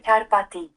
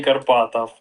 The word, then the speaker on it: Karpathy: А может карпати ти? Ну ти всё-таки мягкий. Это какая-то средняя между и и Карпати. Ну, короче, вот это как Карпаты. Ну, типа, и никакой не Карпатов.